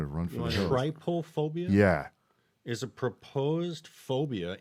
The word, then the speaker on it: trypophobia: if you look up images on is it pronounced trypophobia, whatever?